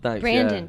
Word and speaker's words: Brandon: blames brand Brandon I just because it's spelled Brendan to me no it's not it's spelled b r a n d o n we're talking about this